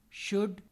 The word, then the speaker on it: should: Calm, should, could, half. L is silent, whereas in cold or gold, L is pronounced.